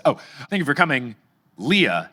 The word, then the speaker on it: Leah: Leah, not pronounced like Princess Leia."